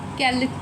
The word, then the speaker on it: quelle: Quelle couleur tu aimes? Which color do you like? All the quel are pronounced the same way, but when you write them, then you should write the correct spellings.